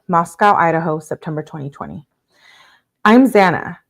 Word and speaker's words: Xana: I'm Zana, pronounced Xanax without the X is how the the petite brunette introduced herself to the house on the first day, and everyone laughed.